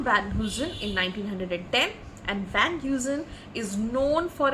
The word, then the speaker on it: Van Heusen: with it so what is this this is pronounced as Van Heusen van who's in what is the spelling v-a-n-h-e-u-s-e-n and it is pronounced as Van Heusen v-a-n Dash Hyo Dash z u h n van uzin and what is Van Heusen Van Heusen is